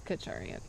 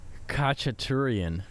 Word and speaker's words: Khachaturian: Saber Dance by Khachaturian. Khachaturian? That kind of sounds right, because I said Katurian, which I knew I said it wrong.